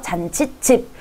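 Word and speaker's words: 잔칫집: 잔치 플러스 찝이라고 잔치집 우리 된소리 나죠? 그래서 잔치집. 등굣길, 길로 나기 때문에 이것도 마찬가지고 잇몸, 니은이 한 번 더 나기 때문에 마찬가지입니다.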